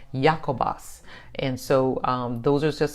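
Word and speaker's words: Ἰάκωβος: And then also it says in Greek, his name is pronounced Jacobos.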